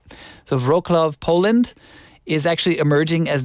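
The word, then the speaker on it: Wrocław: Wroclaw? Is that how you say it? W in Polish is usually pronounced as a V, right? So Wroclaw, Poland is actually emerging as the city with the best Korean restaurants.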